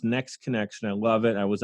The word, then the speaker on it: NXT Connection: you to promote again it's nxt connection but it's pronounced next connection i love it i